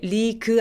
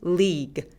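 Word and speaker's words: league: 발음되는 경우가 있어요 그래서 리그 할 때 리그 아니고 리그 리그 그래서 요거는 이름들로 발음해 주셔야 돼요 리그 안돼요 자 두 번째 단어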